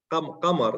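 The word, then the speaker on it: قمر: Qamar. It's like Qamr. Q, Qamar, Qamar, Kamar, Kamar. Qamar. Yeah, Qamar. Pr Yes, Qamar.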